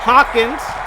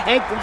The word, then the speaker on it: Hawkins: You know, LaDainian Tomlinson too, as my boy Hawkins. Not Hankins, but Hawkins rhymes with Dawkins.